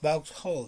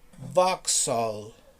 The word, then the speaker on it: Vauxhall: pronounce it box hull box hull box hall no box no never it's vauxhall really i love this